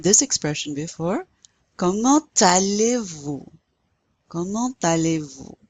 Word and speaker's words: comment allez-vous: Comment allez-vous? You pronounce that T because it's followed by the A.